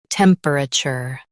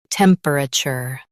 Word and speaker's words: temperature: Temperature. Now read the syllables shown on the screen naturally. Tem. Per. Chur. Temperature. Stress tem and keep per soft.